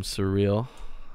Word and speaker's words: Suriel: I'm Surreal. That's how you say it.